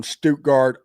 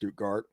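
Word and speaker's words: Stuttgart: Oh, and Jim Crawford is from Stogard, Arkansas. I'm I think it's pronounced Stoutgart.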